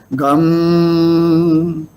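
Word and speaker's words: गं: So in the Sandhi, these 2.5 syllables should be pronounced as Gam.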